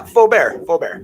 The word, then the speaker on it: Faber: Yeah, Faber. Faber? Faber, yeah. Okay. Like nice and French.